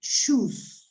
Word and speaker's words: shoes: will use the chat be careful when you pronounce this word the things you wear on your feet are shoes shoes yeah different from the verb to choose that is to select a cohere okay the second